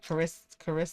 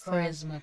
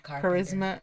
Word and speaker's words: Charisma: Charis caris. Charisma. Charisma.